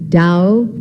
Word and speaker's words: Tao: concepts of the book Dao meaning Wei it is spelled t-a-o der meaning virtue or